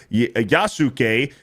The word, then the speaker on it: Yasuke: By the way, the U is silent in names like Daisuke, Yasuke, Yasukek, and sorry, it's driving me nuts. Well, so it's Yasuke. Like sorry, Yasuke.